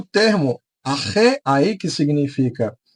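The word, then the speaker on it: ἀρχῇ: O termo Arre, aí que significa, que se escreve dessa maneira, mas se pronuncia arre, significa no princípio.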